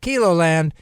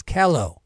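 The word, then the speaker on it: KELOLAND: my soon-to-be son-in-law says it's not kilo land it's kello like yellow so i apologize to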